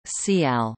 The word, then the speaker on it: CIGALE: The name CIGALE, French pronunciation, CIAL, which is French for cicada, originates from the